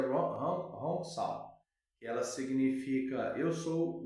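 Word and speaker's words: Hong Sau: E escreve H-O-N S-A-O, mas pronuncia Hong Sao, que ela significa eu sou o espírito.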